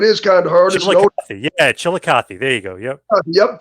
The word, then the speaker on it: Chillicothe: the 11th of course of March yeah it's Chillicothe Ohio it is kind of hard yeah Chillicothe there you go yep yep coming up uh